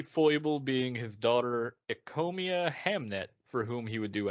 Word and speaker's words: Hamnet: Well, I saw this, and my brain immediately wanted to say Hamlet. Hamlet? But it's Hamnet.